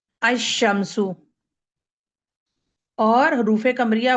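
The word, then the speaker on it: الشمس: शद आती है और लाम जो है वो साइलेंट हो जाता है। अशमसु।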